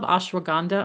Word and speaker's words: ashwagandha: Like I love ashwagandha.